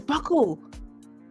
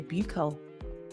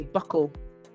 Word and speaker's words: buccal: Oh, it's buckle. My bad. I was going to say buccal. Okay, buckle. Wait.